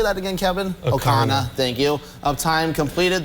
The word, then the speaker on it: Ocarina: Ocarina, thank you.